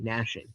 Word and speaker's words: gnashing: Silent G nashing.